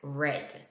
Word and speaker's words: read: cut and quit and read is the same however it is pronounced differently as red for other verbs there